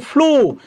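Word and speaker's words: flew: বলছে past foam of মনে রাখবেন ফ্লো এইযে ফ্লো প্রবাহিত হওয়া গতকাল বলছিলাম এটা মনে রাখবেন ফ্লু অনেকে আমরা উচ্চারণ করি ফ্লিউ না এটা জাস্ট ব্লু আমরা বলি না ব্লু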